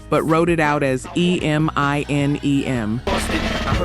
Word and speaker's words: Eminem: kept the sound exactly the same, the phonetic pronunciation of those two letters, but wrote it out as e m i n e m.